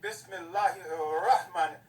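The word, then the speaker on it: بسم الله الرحمن: The Ra is a sun letter. So that's why you say Bismillahir-Rahman. Rahman. When you see it, you'll see A-R, then you'll see Rahman, Rahim. So the first letter is intensified, is repeated twice.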